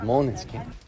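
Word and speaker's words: Måneskin: El nombre del grupo, Maneskin, pronunciado en danés, eso. This is Maneskin.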